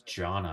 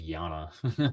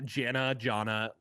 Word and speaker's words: Janna: It's Jana. I thought it was Yana. Yana, no, Jana.